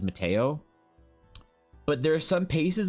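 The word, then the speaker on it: Matejko: I don't speak Polish, but I'm pretty sure, I'm 98% sure that you pronounce this as Mateo.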